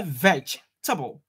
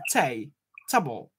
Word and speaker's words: vegetable: i said vegetable yeah that is where you missed the table it is not thai together so you say veg table table table instead of tai table table so set it again